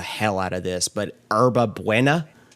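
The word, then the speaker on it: hierba buena: out of this, but herba buena is how it's pronounced, I believe.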